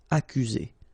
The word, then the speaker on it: accuser: You don't need to pronounce double C here, because normally we only pronounce this K. Accuser.